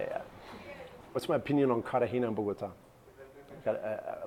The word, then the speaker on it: Cartagena: Cartagena. I've been called out on my pronunciation multiple times. Really got to pronounce the T. Cartagena. I think I say Cartagena, which Colombians don't like too much.